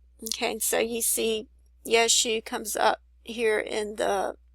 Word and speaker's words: Yeshu: This one has Yeshu and bride.